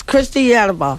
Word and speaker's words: Christiana: Yeah, it's Christiana.